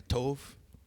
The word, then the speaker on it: Tov: Viu como a pronúncia dele é uma pronúncia certa? Tove. Deve ser um grande hebraísta.